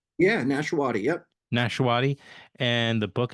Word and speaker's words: Nashawaty: Did I pronounce it right? Yeah, Nashawaty.